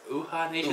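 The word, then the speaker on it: Uhaa Nation: Uh I think it's UHA Nation. Uh Nation is how you say it.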